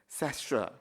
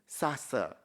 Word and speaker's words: Sasseur: So first and foremost number one is cester. Second word is sassa. Okay. Put up your hands. Tell me which one is the correct pronunciation. Who is number one? The lady there is number one. Which one? You are right.